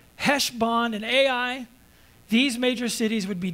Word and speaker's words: Ai: Wail, O Heshbon, for Ai, I think that's pronounced Ai, has been destroyed.